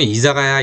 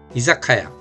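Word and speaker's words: 居酒屋: 이사가야 선술집 이걸 조금 이자가야 이자가야 그렇게 해가지고 제가 고쳐 준 적이 있어요. 이자가야가 아니라이자 뒤로 보면 좀 세게 이자카야 혹은 이사카야 이렇게 발음하시면 틀림 없습니다.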